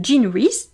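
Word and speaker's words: Jean Rhys: mère des sargas de Jean reys donc Jean re ça s'écrit comme Jean j e a n r r h Ys c'est un livre qu'on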